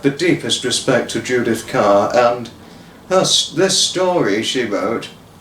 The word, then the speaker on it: Kerr: Written by the most distinguishable author, Judith Kerr. Although it's spelt Kerr, it's pronounced Kerr, who was German born but lived in England for a very, very long time of her life.